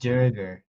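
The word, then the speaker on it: Duergar: It's pronounced Durger.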